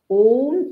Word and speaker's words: Om: people pronounce it as ow no that is not correct om is the correct pronunciation though it has got three parts okay now our Vedas